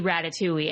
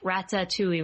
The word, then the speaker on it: Ratatouille: so I remember being so excited to see Ratatouille and I just loves the concept and I